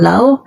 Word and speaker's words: Laos: yung Lao mga kaibigan Lao Pag binasa mo siya Laos Pero hindi naman siya Laos eh Lao silent s no ginagawa ngayon ng